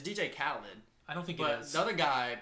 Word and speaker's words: DJ Khaled: didn't not I did not know how to pronounce khed KH KH people say no say KH no it's DJ Khaled I don't think he is but the other